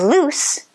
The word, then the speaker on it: loose: the air through z whereas loose is with an s sound your tongue is also touching behind the front teeth but as you make the sound it also touches the teeth on the sides and the air doesn't vibrate when you make the sound think of the sound a snake makes look at this sentence